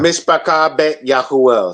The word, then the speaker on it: Mishpachah Bet Yahuel: Mishpachah Bet Yahuel. So the family of the house of Yahuel. That's how you pronounce.